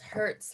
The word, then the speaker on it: hertz: abbreviated h z and you pronounce hurts like you know you fell down and you and something